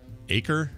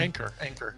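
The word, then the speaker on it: Achor: by a guy named Sean Aker, I think is how you say his name. Anchor. Is it Anchor? I don't see an N. It's Anchor. Oh, isn't it? Isn't it A-N-C? Oh, it is Acre. I'm sorry, A-C-H-O-R.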